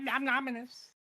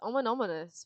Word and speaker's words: ominous: Luxie and just like nominous. What do you say it like a normal person? It's ominous.